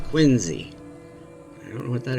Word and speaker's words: Quincy: the distance you see I'm from Illinois we pronounce that word Quincy but apparently in Boston that's pronounced quiny I don't know what